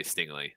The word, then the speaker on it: Stingley: If somehow like teams were scared off and okay, I always do the worst with pronouncing names. Is it Stingley or it's Stingley, right? Yeah. Stingley.